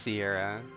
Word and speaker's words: Sierra: Cory and Sierra, I keep thinking Sierra because of like how you pronounce the X in several other names that are in this game, but it's just Sierra.